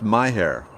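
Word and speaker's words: Mexia: of bats okay so m-e-x-i-a is pronounced my hair good to know oh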